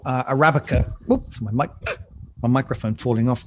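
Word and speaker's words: % Arabica: On percent Arabica or Arabica as it's actually pronounced, but written with the percentage Arabica.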